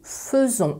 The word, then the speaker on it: faisons: Faire, au présent, c'est nous faisons. Alors attention, il y a une particularité de prononciation. Je l'écris F-A-I, mais c'est prononcé feu.